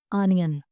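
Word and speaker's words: onion: है आप लोगों ने इसे ओनियन नहीं बोलना इसे बोलना है अनियन नेक्स्ट हमारे पास है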